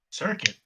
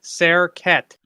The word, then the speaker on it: Serquette: found in the area circuit not circuit serquette he'll piss him off if you don't say his name properly yes he's a pseudo-dragon